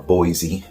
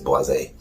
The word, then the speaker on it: Boisé: the talk about the Cedrat Boisé, or Boise. It depends how you want to pronounce it, I guess. Boisé. I think it is Boisé.